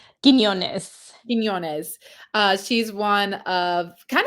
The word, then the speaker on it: Quiñones: KK Arnold has been a little bit more aggressive and looking to score more often as well as Blanca Quinones. Am I saying it right? Quiñones.